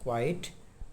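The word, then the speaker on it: quite: Similar spellings के साथ। पहला तो है क्यू यू आई टी ई, क्वाइट, क्यू यू आई ई टी, क्वाइट, and third one है क्यू यू आई टी, क्विट।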